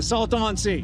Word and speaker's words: Salton Sea: The Salton Sea. That's how you pronounce it.